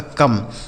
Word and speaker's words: come: COME सी से हो गया दोस्तों का, इस ओ का उच्चारण अ हो गया। ME से म, यह लिखा आपका कम। COME कम हो गया।